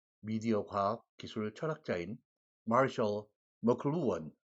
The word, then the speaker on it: McLuhan: 그러한 글로벌리제이션을 기정사실로 내다본 미디어 이론가이자 미디어 과학 기술 철학자인 마셜 머클루언, 우리 한국에서는 대개 마셜 맥루한이라고 표기를 하고 발음하고 있습니다. 실제와는 상당히 거리가 먼 그런 발음이고요. 마셜 머클루언입니다.